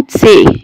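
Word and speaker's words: C: احيانا بسمع الحرف ده يا جماعة زي ما بيقولوه في الانجليش، احيانا بالذات الكلمات الدخيلة، انما الحرف ده عندنا اسمه تسي. اسمه ايه؟ تسي.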